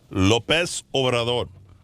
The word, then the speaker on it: López Obrador: López Obrador.